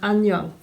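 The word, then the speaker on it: 안녕: So when this Korean letter ends the syllable, it's pronounced NG. So when you're missing the part of Ahn Nyeung, where do you think you should write it here?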